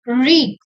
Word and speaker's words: wreak: And the second word it's written WREAK. It's pronounced as reek.